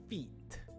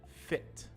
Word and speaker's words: fit: on the left we have feet feet but we want to say fit fit on the right so it's very important that these two words sound different because they're two different words and if you pronounce